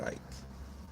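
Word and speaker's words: Icke: He said David Ike, which is understandable because it's spelled IC ke, but really it's David Ike.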